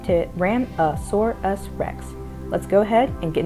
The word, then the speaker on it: Tyrannosaurus rex: as the t-rex and just to reiterate that's pronounced to ram a sore us rex let's go ahead and get into this video